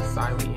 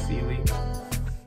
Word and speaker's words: Sealy: Quickly, I will mention the optic I got on here is a Sealy, I believe it's pronounced. I've heard it pronounced Siley and Sealy, but I believe it is Sealy.